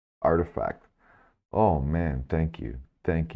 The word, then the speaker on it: RTFKT: the space by acquiring RT fkt pronounced artifact oh man thank you